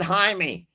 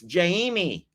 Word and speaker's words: Jamie: I thought it said Jaime. I'm sorry. I thought it said Jaime. Jamie. There. So it's Jamie. Say it right, y'all.